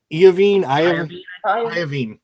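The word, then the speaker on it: Iovine: she contacted jimmy uh you how do you pronounce his name iavine okay uh just contacted jimmy ivey uh formed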